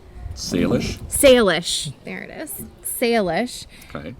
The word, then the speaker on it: Salish: Samish Sea? Salish.